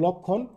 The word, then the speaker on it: লক্ষণ: উ এর মত হয় তার মানে শব্দের শুরুতে যদি স্বরে থাকে এবং এরপর খিয় থাকে তাহলে ও এর উচ্চারণ উয়ে যায় যেমন লক্ষণ তোমরা এখানে লক্ষ্য করো এখানে